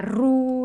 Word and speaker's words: roue: d'accord où sont les piétons c'est pas la roue la roue de la voiture la roue c'est